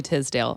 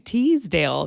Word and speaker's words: Tisdale: And I'm glad that we figured out how to pronounce her last name, because this person to me hasn't been famous for such a long time that when I've been talking about her, I've been saying Teasdale, because I really feel